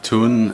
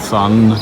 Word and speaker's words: Thun: town town of tourne they pronounce it tun it's t-h-u-n not sun but and these river